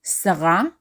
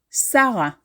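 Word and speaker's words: שרה: ashel in modern Hebrew the name Sarah in Hebrew is pronounced Sarah and just like with the name we formally stress the last syllable in the name but we very commonly also pronounce the second to last syllable so your name can be Sarah or Sarah depending on what syllable is stress Sarah or Sarah in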